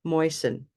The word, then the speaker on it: moisten: What's the silent letter in moisten? Moisten. Moisten means to make moist. To make moist or wet, right? So I can moisten a cloth That to T. wash my face. That Yeah, T. that's silent T.